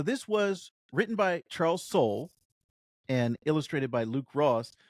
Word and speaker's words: Soule: It's Soul, not Soleil. It's Soul. Yes. Yeah, it's Soul. Yes. Every time I looked, I was like, Soleil. That would be an interesting pronunciation.